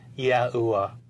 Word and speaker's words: Yahuwah: The sacred name of God was pronounced Yahuwah.